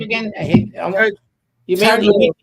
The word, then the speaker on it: Lieu: You mean Lieu. Lieu. Yeah. Don't spell it like it sounds.